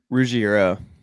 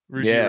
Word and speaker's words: Ruggiero: Tony Ruggiero? Yeah, Ruggiero. Ruggiero.